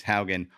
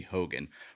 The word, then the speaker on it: Haan: player and bass player my last name is Haan all high school everybody called me Hogan one dude mispronounced my